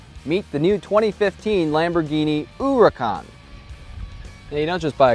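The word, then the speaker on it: Huracán: Looks like it should be pronounced Hurricane or Huracan. It's actually pronounced Huracan according to Lamborghini.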